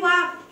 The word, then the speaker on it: walk: वालक, लेकिन एल की साउंड ही नहीं आ रही, मैं बोल रही हूँ वाक, वाक, WAK वाक। एल तो बोल ही नहीं रही, मैं एल अंदर ही खा जा रही हूँ, है ना।